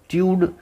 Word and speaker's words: tude: नहीं तो हम TUD टड पढ़ेंगे, लेकिन TUDE ट्यूड पढ़ेंगे। अल्टीट्यूड, सॉलिट्यूड, एप्टीट्यूड, एटीट्यूड, लॉन्गिट्यूड, ग्रैटिट्यूड, लैटिट्यूड, हैबिट्यूड।